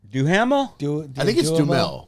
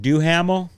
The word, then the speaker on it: Duhamel: Is it Duhamel? I've always thought it was Dumel. I think it's Duhamel. Duhamel, right? Josh We can all Gargamel agree that from he's Smurfs.